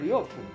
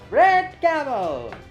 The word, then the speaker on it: Ryofu: No, you got my name wrong. I'm Ryofu. Not. Oh, oops. Must have been a mistake in your entry form. Sorry about that. Take 2. Red camel.